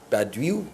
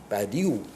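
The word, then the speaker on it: Badiou: are doing we we go back and read Badu Badu B I find that hard to pronounce b a d i o u uh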